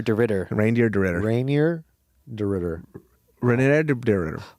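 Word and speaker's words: Reinier: It's Reindeer De Ridder. Reindeer De Ridder. Rainier De Ridder.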